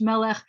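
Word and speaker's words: מלך: break that into syllables it's me and the first syllable is meh even though it's a short vowel it acts it's the accented syllable so it acts like a long vowel so we're good so it's melech i'm gonna write two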